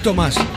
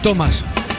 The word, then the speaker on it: Thomas: Tomás Gutiérrez Tomás Gutiérrez no es Tomás es Thomas es Thomas no Tomás Víctor, Tomás Gutiérrez.